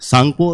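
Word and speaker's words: Tsangpo: सांगपो उसमें T silent होता है।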